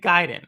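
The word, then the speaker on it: Gaiden: said it right gayen I said Guiden right guide like guid ninja giden um so so I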